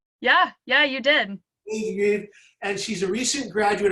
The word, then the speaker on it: DeGreve: Today, our guest is Haley Degreve. Am I pronouncing your last name right? Yeah, you did. Haley Degreve.